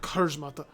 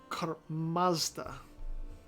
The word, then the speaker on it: Kurmazda: Or, no, not Kurzmata. Kurmazda. Gotta pronounce it right if I can.